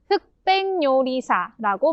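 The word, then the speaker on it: 흑백요리사: 참고로 흑백 요리사라고 발음합니다. 흑백 요리사.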